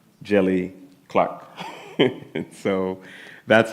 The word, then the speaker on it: Djèlí: And then the middle name, Djèlí, the D is silent, so it's just Djèlí, and a Djèlí is a West African storyteller.